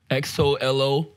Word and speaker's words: Xolo: How do you pronounce that? X-O-L-O? Oh, Xolo, man.